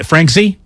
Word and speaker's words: Franzke: Is it Franzke? Yeah, Franzke.